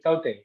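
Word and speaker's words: Tauktae: Spelling is terrible in this case, but finally I found the pronunciation is Taute.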